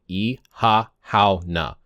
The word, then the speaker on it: Oíche Shamhna: The first part here, we see Halloween, and we see the pronunciation here similar to how we're saying Ihahhauna.